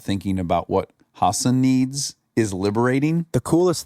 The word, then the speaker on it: Hasan: Hasan.